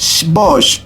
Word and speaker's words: Xbox: xbox el pueblo yucateco al tener un origen maya se pronuncia box porque en esa lengua